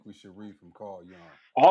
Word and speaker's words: Jung: It's not Jung, it's Carl. That the pronunciation is Young.